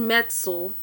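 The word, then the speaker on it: Metzl: the criminally insane was infamous for this jonathan metzel that's how you pronounce his name he's the author of the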